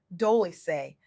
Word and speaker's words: Dolce: I'm your host Dolce pronounced dolce like sweet softness whispered in French.